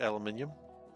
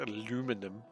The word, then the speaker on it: aluminium: He wrote aluminium. That's how you say it. You don't write aluminum unless you're American, which is just strange.